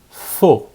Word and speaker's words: faux: Faux. Faux. A-U-X, O. Faux. Falso. Aqui o falso, né? A gente fala fos. Fos.